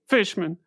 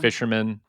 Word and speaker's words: Fishman: mispronunciations of my name despite the fact that it is two very straightforward words to pronounce fish and man sometimes I get fisherman sometimes I get fman Fisher I've gotten Fisher before yeah really all the